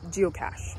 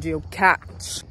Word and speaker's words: geocache: looking for the next geocache yes and I now know how to say it right cuz I was saying GE catch we taking a pit